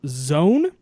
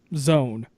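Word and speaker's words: Zōn: I'm pronouncing the name wrong, as it is pronounced as Zone. Yes, Zone.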